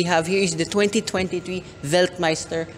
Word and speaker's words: Weltmeister: here is the 2023 veltmeister W5 or if you're Pinoy you can just pronounce it as well Meister W5 or in short wmw